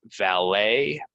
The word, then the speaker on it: valet: and success there was valet parking at the ballet words that come from French We're not gonna say this T right valet and ballet valet and ballet and